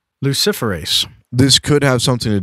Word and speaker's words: luciferase: Luciferase. Yeah, it's like Lucifer. Luciferase.